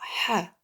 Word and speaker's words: ح: Ha aussi, on gratte pas. Ha.